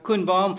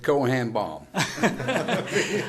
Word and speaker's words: Koen Baum: And then we have Koen Baum from Hart voor Den Haag. Nice pronunciation. Yes. Thank you so much. Yeah, a lot of people pronounce it Cohen-Baum.